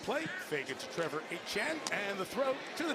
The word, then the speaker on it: Etienne: Travis Etienne, which has been pronounced when his brother's been around, as Etienne. Trevor is the one who plays for Carolina. So it's Etienne.